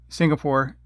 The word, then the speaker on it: Singapore: Singapore, Singapoure. It should be Pore, not Poure.